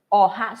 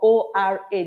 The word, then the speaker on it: Oha: going to be cooking Oha Soup. It's spelled as in O-H-A or O-R-A, depending on how you want to pronounce it. It's either you pronounce it Ora or Oha.